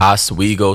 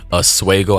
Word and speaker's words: Oswego: And here is that official documentation in Oswego City Court, or excuse me, Oswego, I think is how you pronounce it.